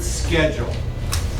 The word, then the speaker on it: schedule: something here the word schedule in English American we often use the word SK like school but if you are